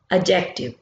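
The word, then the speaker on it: adjective: यहाँ पे डी जो है ये साइलेंट होगा, हमने डी को नहीं पढ़ना, एडजेक्टिव।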